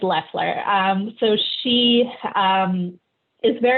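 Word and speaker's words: Loeffler: is i'm kelly lesler you have to forgive me if i mispronounce them names because i i do not watch american cable news i just read a lot of american news but i believe it's leffler um so she um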